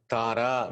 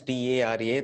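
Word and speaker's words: Tārā: Tara means T-A-R-A, Tara. there is a mark over A, so that you can see that as A, Tara.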